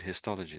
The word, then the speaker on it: histology: Uh maybe I I pronounce it. No, you're spot on. That's exactly how it said hisystology.